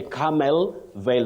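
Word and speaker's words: Carmel Vale: of camil if you like you can say camel Veil that is c a r m e l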